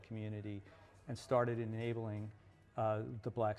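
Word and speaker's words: Cxmmunity: There's a great company in Atlanta called Community, which is spelled CX instead of an O, Community, which launched an esports league, the first esports league for HBCU schools.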